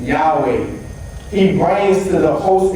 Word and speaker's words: Yahweh: So many Greek transcriptions will indicate YHWH, which should be pronounced Yahweh.